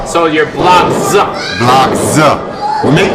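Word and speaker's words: Blockz: You spell that B L O C K Z. Can't forget about the Z. But you just called yourself blocks. Yes, it is block Z. So you're emphasizing that Z.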